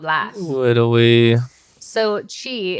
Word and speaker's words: qi: So chi, it's QI is how it's spelled, but you pronounce it chi.